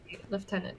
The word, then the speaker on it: lieutenant: friends left in it so it has an F even though it's not written with an H not my like those are those like hidden oh that could be a big American pronunciation actually yeah British lieutenant but maybe those like